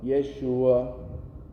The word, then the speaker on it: Yeshua: Aquella palabra en hebreo para salvación, Yeshua. Jesús, ¿saben cómo se dice? Yeshua.